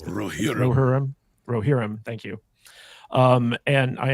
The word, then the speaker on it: Rohirrim: pronounce it. Rohirrim.